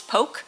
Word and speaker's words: poche: So the French word for bag is poche. In Anglo-Norman, the pronunciation of poche is poke.